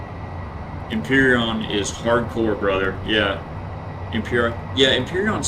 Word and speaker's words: Empyrion: Empyrean's spelled weird. It's weird the way they spell it. You're not too far off though, but yeah, it's EMPYRION, Empyrean.